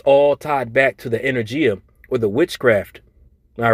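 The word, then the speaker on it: ἐνέργεια: Now, when you go into that word working in the Greek, that word is pronounced energia.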